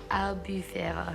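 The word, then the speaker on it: Albufera: I've done is a albufeira sauce. I can't pronounce it well. It's with a chicken velouté base. Albufeira. Albufeira. That's better. There we go.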